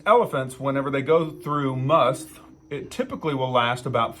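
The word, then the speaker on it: musth: It looks like must, but there's an H on the end of it, so I'll go with must.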